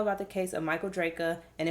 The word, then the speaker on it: Drejka: the case of michael draca and if i say dredge at any point in this uh video just know that it's because his name is spelled like it's drejka and not draco if y'all knew about